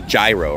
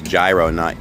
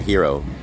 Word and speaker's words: gyro: Yeah, so it's gyro, right? It's gyro, not hero.